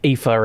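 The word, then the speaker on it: Aoife: like epher and all that sort of stuff which is spelled like a o i f e alliance has failed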